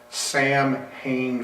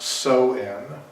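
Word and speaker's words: Samhain: it it kind of got it starts as Sam Hae Festival Sam hanne Sam ha spelled s a m h a i n and it's actually pronounced so in okay it it was started in the 10th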